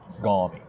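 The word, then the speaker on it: gormy: The definitions of these terms, like gawmy. It's spelled G-O-R-M-Y. Gawmy.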